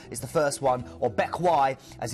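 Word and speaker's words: Bequia: Bakila is the first one, or Bekwai as it's pronounced. It doesn't read like it looks.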